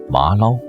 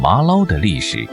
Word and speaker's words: 麻粩: southern area of Fujian The pronunciation of its name in local dialect is similar to “Ma Lao” It requires exquisite skills